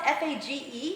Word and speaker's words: Fage: So the brand that I recommend is called Fage. It's spelled F-A-G-E.